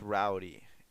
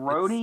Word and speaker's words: Rhodey: And the I whole mean, thing with Rowdy, yeah. I mean, It's Rhodey.